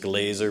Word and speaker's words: GlaZer: be demoing the Glazer it is pronounced Glazer with a G make sure you pronounce